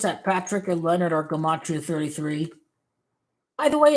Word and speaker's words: Gematria: You got to pronounce Gematria correctly. It's Gematria, not Gematria.